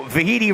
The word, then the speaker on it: Vahiti: So Vahiti rhyming with Tahiti, a full Hawaiian name.